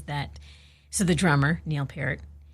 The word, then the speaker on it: Peart: No, they're getting an argument about how to say this guy's last name. And it was him. They were talking to him. Yeah. And he's saying it's Peart. No, he says it's Peart. Is it Peart?